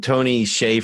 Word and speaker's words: Tony Hsieh: that also sells shoes Bart you're a big Tony Hsieh fan that's how you say his name right